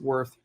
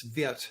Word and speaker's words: Wirth: It's W-I-R-T-H. We'd say in English, of course, it's Wirth or Wirth. Sometimes people pronounce it Wirth, but in German it's Wirth, and the W is pronounced like a V, and I-R-T-H, Wirth.